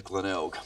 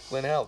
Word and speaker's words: Glenelg: It's SA, and I do believe the suburb is Glenelg. Glenelg.